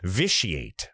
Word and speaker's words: vitiate: Vitiate. That's how it's pronounced.